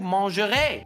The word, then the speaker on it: mangerez: Well, that's vous mangerez. Guess Okay. how that is spelled at the end? With a silent Z. That is correct. It ends with E-Z.